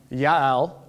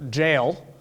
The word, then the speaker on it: Yael: second Deborah Barack and Yael I know it's a j I'm going to call her jail because that's easier for me but that's not to have pronounced there's no J pronunciation in Hebrew which is also why